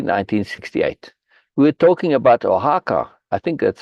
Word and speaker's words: Oaxaca: We were talking about Oaxaca. I think that's how you would pronounce that, right?